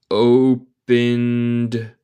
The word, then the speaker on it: opened: Nota mi pronunciación. No se dice el E. Opened the door.